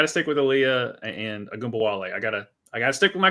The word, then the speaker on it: Ogunbowale: And how do you pronounce her last name? The point guard that's playing for Ogunbowale. Yeah, so Ogunbowale.